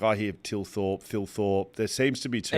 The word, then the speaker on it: Thilthorpe: Like, I hear Tilthorpe, Philthorpe. There seems to be too Ian many. Thorpe. There's too much. It's Tilthorpe.